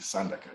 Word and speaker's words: Sandaka: And so tell us about, and am I saying it right, Sandaka? Yes, please, Sandaka, yeah.